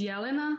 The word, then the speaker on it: Jelena: My name is Jelena. That is the correct pronunciation.